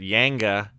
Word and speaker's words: Jenga: Kelly and I had a few waters, played a lot of Jenga, or as some people would pronounce it, Yanga, if depending on what region you're from.